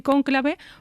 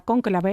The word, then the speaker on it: cónclave: hemos hecho muchas veces, nos empeñamos en decir cónclave, pues ya está, cónclave es lo que ha terminado triunfando.